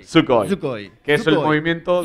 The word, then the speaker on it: Dosukoi: Recuerda que la U no se pronuncia. Perdón. Dosukoi. Dosukoi.